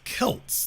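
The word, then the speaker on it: Celts: documentary any anthropology it's it's pronounced Kelts they are the Boston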